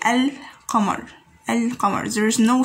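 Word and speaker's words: القمر: gone over it we can find that it is silent or or do you say el camar and commerce there is no stress on pronouncing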